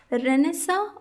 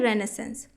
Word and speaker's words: Renaissance: ए एन सी ई रेनेसा और कहीं-कहीं पर इसे प्रोनाउंस किया जाता है रेनेस संस इसका इस वर्ड का